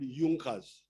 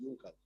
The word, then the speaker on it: Junkers: small kings there but there was a big business group in prussia called yunkas they are written as junkers but they are pronounced as the yonkers these were big producers